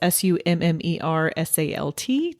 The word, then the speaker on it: Summersalt: It's SUMMERSALT, just kind of like it's spelled.